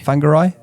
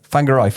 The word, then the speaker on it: Whangarei: I think I've pronounced that right. Whangarei. Whangarei.